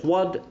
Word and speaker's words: froide: is partly provided by the effect of the articulated E mute, which lengthens the syllable before it. Froide, vive. But while froide has a full tonic accent, vive has not, and it is clarté which acts as the accentual peak, and so on and so on.